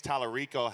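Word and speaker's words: James Talarico: Did I pronounce his name right? Yes. What does James Tallarico have to do to get Jasmine Crockett out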